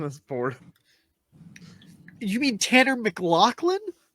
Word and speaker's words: McLaughlin: You mean Tanner McLaughlin Is it Lachlan? It's close enough. or McLennan. Laughlin? I think it's Laughlin. Is how you pronounce that.